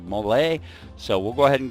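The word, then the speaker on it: MOLLE: Best, we're going to go ahead and rock the Mole or the Mali, whatever, you know, specific country you're from. It depends on, you know, how you pronounce that. We pronounce it the Mole.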